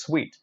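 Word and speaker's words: suite: 10 commonly mispronounced so one of the commonly mispronounced words is sued it's not sued it's actually sweet little kind of a room that we booked in a hotel mostly the connected rooms so it's sweet now once you know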